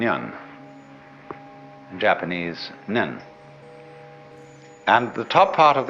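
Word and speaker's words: 念: they have a very interesting sign this it's pronounced n in Japanese nen and the top part of the character uh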